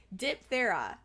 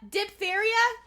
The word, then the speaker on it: diphtheria: my ass was going to forget about it diphthera diphthera outbreak in the 1800s i listen to the pronunciation to make sure i said it right